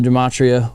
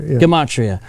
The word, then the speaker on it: gematria: does some of the dematria uh we mentioned earlier i always mispronounced that gematria de matria dimachi it's a harder g gematria i always do that